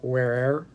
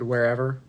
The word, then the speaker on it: where'er: And also on my pronunciation in that poem, I know there's elision in this poem for the word wherever. It should be like where'er, but the poem just